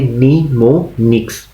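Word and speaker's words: mnemonics: हम बोलते हैं निमोनिक्स इसमें जो एम है वो पहला साइलेंट है बाकी हम इसे पढ़ेंगे निमोनिक्स for example the ऐड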